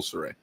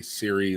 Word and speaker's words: Cire: Saray is spelled Cire. People say Siri and stuff. I'm pretty sure it's pronounced Saray.